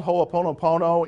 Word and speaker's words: ho'oponopono: that's one of the techniques hmm it's called ho'oponopono in the Hawaiian tradition and I wasn't going